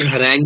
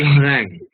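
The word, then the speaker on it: harangue: uh tiid and the word Harang is not pronounced as Harang you it is pronounced as Harang moving to 33 which sentence includes an oximoron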